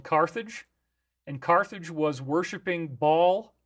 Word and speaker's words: Baal: and Carthage was worshiping Baal, or Baal, I guess you could also call it that. But remember, you got in the DS, they often use the Baal pronunciation like Balenciaga, Cabal. Okay, these are all things that They don't say Baal, they say Baal. So it's both.